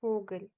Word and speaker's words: Vogel: In German, it is pronounced as V. In English, we pronounce it as V, but in German, V is pronounced as V and it has the sound of F.